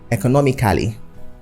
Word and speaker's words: economically: And then economically, which is the adverb, is often pronounced economically. So the A in the word in Cali should be removed and it should be economically, not economically. It should be economical, not economical.